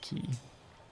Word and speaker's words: quay: That doesn't really work though, because even though it's spelled like quay, it's actually pronounced key.